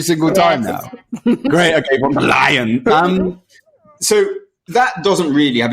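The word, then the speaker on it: Ursula von der Leyen: And what the Europeans did, or what Brussels, really what von der Leyen did. Von der Leyen? Von der Leyen.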